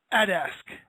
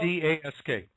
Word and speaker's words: Adask: I'm about the only one who pronounces it that way. Everyone else says Adask. I hear it's, for whatever reason, it's more natural to pronounce it differently than I do.